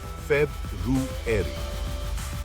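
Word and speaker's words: February: फेब्रुअरी, प्रत्येक आर का उच्चारण स्पष्ट रूप से करें। फेब-रू-एरी। इसे 2 अलग-अलग शब्दों के रूप में सोचें, फेब और रूएरी।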